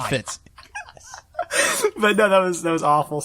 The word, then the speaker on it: Fitz: You mispronounced his name as Fritz. Oh, did I say Fritz? And I was like, Fitz is on the Fritz. Why did I say Fritz? I meant Fitz.